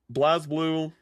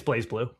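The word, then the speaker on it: BlazBlue: Uh, Blasblue, do you say Blas Blue or Blaze Blueue? It's Blaze Blueue. Really? I like the producer has said that. Okay, cool. Blaze Blueue central fiction DLC character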